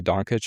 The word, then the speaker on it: Dončić: We'll work on the pronunciation, Luka Dončić. Dončić.